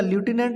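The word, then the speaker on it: Lieutenant: पढ़ा और इसको जो प्रोनाउंसिएशन है वो इसका ल्यूटिनेंट होता है और लिखावट इसकी स्पेलिंग आपके बिल्कुल सामने है, ठीक है ना।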